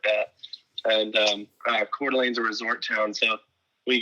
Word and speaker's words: Coeur d'Alene: Yes, I was born in Coeur d'Alene, Idaho, and it's spelled really funny, but Coeur d'Alene it's in the Panhandle, it's in the north, so we don't grow any potatoes or anything.